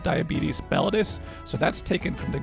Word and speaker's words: mellitus: It's oh my gosh, mellitus, mellitus.